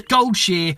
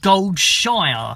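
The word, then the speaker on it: Goldshire: to Gold cheer yes gold cheer not gold Shire if you say gold Shire you have been saying it wrong and now I can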